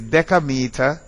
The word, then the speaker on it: decameter: If the vowel is an A or an O, it is dec. If it is an I or a C, it is des. So it is decameter, decimeter, and decimal.